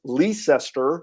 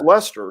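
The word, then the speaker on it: Leicester: from where i live is a place called lester north carolina spelled like you guys in england which is leecester right but it's lester so i don't know i i guess a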